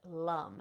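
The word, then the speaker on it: Lam: we're going to intone the seed sound Lum it's spelled l m but we we pronounce it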